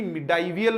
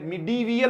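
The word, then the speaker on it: medieval: ये एक्चुअली मिडाइवियल भी नहीं है, मिडीवियल होता है। ये मिडाइवल हिस्ट्री कोई वर्ड नहीं है, मिडीवियल।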